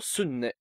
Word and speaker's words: sunne: Thus, whilst n in sunu is pronounced as in money, the nn in seo sunne, the sun, is pronounced as in penknife.